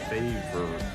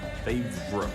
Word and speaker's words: Favre: old it is f a v r it's favor favor you've done what no one else no one